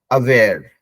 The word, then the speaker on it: aware: कि अगो होता है, ए से स्टार्ट होता है, उसका प्रोनाउंसिएशन अ होता है, अगो, अवेयर, है ना। तो जैसे यहाँ पे भी ऐसे है, मतलब सब बीइंग अवेयर ऑफ समथिंग, तो अ प्रोनाउंस करें, अवेयर।